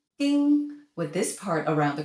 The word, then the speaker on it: 丁: In most cases, they're pronounced 丁 or 听, d, t, with a variety of tones. 丁 plus a mouth means to sting, a bee, a mosquito. 丁, ding, with this part around